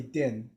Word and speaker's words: Dinh: like my name is din and it's a very simple name to say dim but i cannot tell you how many times people have missed it even though it's written very clearly din and the other thing